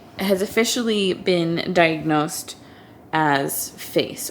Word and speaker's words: PHACE: officially been diagnosed as face or with face syndrome it's spelled p-h-a-c-e it's very rare they